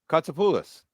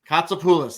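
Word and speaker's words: Kotsopoulos: t s o p o u l oos katulis katulis there we go so you and Bobby got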